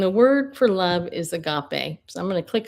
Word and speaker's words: agape: agape agape agape. Okay, well, he says it agape. I say agape. But either way, it's it you know what it means.